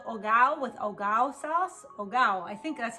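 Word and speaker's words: hogao: how you pronounce it here's a tip when you see a spanish word you never pronounce the h that's what my spanish teacher always told me growing up you never pronounce you never pronounce you never pronounce the h so spelled h-o-g-a-o it's that luscious tomato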